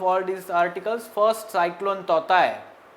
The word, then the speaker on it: Tauktae: First, cyclone Totai, though spelling of this TAUKTAE is there, it is pronounced as Totai.